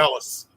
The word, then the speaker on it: Ellis: Is that how you pronounce his name? Ryan, can you help me out with that? Is that right? Yeah. Ellis. Ellis, yeah.